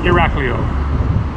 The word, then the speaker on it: Iraklio: just tell it how it's supposed to be pronounced but that's Iraq leo in 1900 so is Iraq real worth visiting